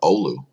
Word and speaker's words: Oulu: And thanks for teaching me how to pronounce the word Oulu last year.